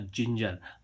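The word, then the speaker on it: ginger: अब जैसे हम देखें जी आई एन जी आर जिंजर। अब देखो यहां पर जी का उच्चारण क्या निकल रहा है? ज देखो जी के बाद क्या आ रहा है?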